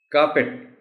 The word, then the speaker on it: carpet: Carpet, carpet, pit sound hai isme, aur stress C par hai. Ye do khas points hain is word ke pronunciation.